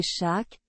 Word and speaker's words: Chaac: shaak dieu de la pluie et Dieu du tonner shaak prononcé shak était très respecté par